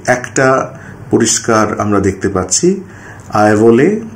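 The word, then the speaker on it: Aihole: এই আইভোলে হচ্ছে আসলে আইহোল যে শব্দটা সেটারই ওখানকার স্থানীয় কন্নড় উচ্চারণ আইনুরুভার, আইভোলে যেটা বলা হচ্ছে। আমরা স্থানীয় এলাকায় গিয়ে যদি আইহোল বলে কথা বলি তাহলে অনেক সময় কিন্তু ওরা বুঝতে পারবে না। এই আইহোল শব্দটা সম্পূর্ণভাবে ইংরাজিতে ইতিহাস চর্চা করতে গিয়ে এসেছে। অরিজিনাল যে কন্নড় যে উচ্চারণ সেখানে এটা হবে আইভলে।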